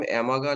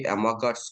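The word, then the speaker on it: Amagat: এই গ্রাফগুলোকে আমরা নাম দিয়েছিলাম অ্যামাগা লেখচিত্র। আমরা ইংলিশে বলি অ্যামাগাটস কার্ভ, টি এর উচ্চারণটা হয় না বাংলায়, তো অ্যামাগা লেখচিত্র বলে, কার্ভ লিখি।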